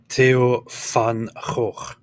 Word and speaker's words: Theo van Gogh: It's just the pronunciation is Theo van Gogh.